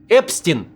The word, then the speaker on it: Epstein: It’s pronounced “Epsteen” in an English way, while Mélenchon suggested it should be “Epstine”, mentioning the Jewish last name Einstein.